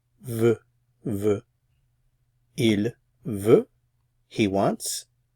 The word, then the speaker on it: veut: It's pronounced the same as these two, but spelled a little differently. Veut, veut.